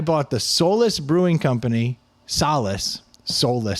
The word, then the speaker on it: Solace: Solace. Solless sounds bad. So, we'll pronounce it Solace.